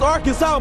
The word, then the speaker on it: Arkansas: I got that wood and that's how you pronounce it ain't Aran it's Arkansas baby this is where you cement your legacy